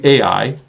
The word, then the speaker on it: Ai: Yes, in Hebrew, the name Ai, that's the pronunciation, means the ruin or heap of ruins.